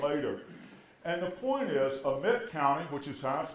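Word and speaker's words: Amite: delta was developed later and the point is amit county which is house pronounced in mid county and pike county these are counties where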